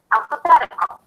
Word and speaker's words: alphabetical: Let's take the suffix "ical," as in alphabetical. The suffix is "ical." Primary stress one syllable before the suffix.